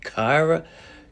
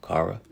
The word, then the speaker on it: Kara: You had Kyra. Kyra was in this, John. Um, that's Supergirl. Or did I say her name wrong? Kara.